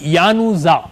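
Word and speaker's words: Januzaj: okay bye D weather D जे और डी के आते डी और N both silent so इट्स an post तू बी यानोजा ओके अदनान अदनान ज्ञानुज्जा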